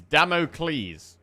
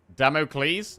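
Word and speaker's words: Damocles: It's Damoc Cleles. Damoc Cleles as in the sword.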